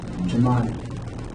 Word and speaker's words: Jemani: Like it's not like Manny. It's like Money. Jemani.